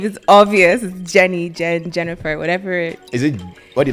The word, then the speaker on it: Jennifer: name like it's jelly it's like jennifer it's really three syllables right there three syllables